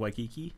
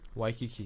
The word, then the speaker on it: Waikiki: v exactly but but if it starts with a w you pronounce the w for like for example y and i like waikiki waikiki exactly wahiwa waipahu why